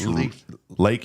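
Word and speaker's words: Leakey: That's Lakey. It's pronounced Lakey. Yeah, Lakey. I used to say Leaky, but it is pronounced Lakey.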